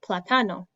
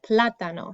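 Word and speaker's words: plátano: it would sound like platano but we pronounce it platano so the emphasis goes on a different syllable so that's why we put the accent there because it doesn't follow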